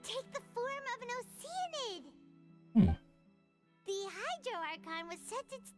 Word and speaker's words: Oceanid: Like instead of like Oceanid, she says Oceanid. Like she pronounces the A in ocean.